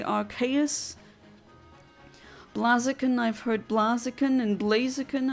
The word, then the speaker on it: Blaziken: I've heard both, but I've also heard it pronounced as Blaziken, because the Ken should, or K-E-N part should, I think, be a reference to fighting game characters like Ken from Street Fighter.